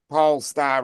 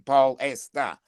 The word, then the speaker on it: Polestar: Pole star rather than pole estar. You put you make it into three.